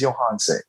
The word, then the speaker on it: Johanse: My name is Johanse. Rhymes with Beyonce, starts with a Y. Johanse.